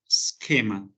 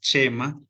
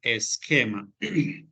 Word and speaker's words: schema: Bueno, por acá tenemos a schema y esta es la pronunciación, schema. ¿Listo? Va a sonar como una K, no como no es schema ni nada por el estilo. Vamos a pronunciarlo esquema.